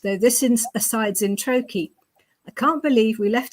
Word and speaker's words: Troy: you didn't know already Troy rhymes with hokey kokei we can be really